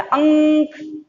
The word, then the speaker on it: अंक: देखिए, आप जब इसका उच्चारण करते हैं तो नाक से बोलते हैं अनुस्वार, इसमें थोड़े नाक से आपकी आवाज आती है। अंक, न, देखिए अंक, पंख,